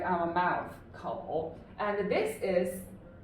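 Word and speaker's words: 口: Yeah, this is pronounced as kou. Yeah, it means the mouth. It's very, vivid, right? It's like our mouth, kou.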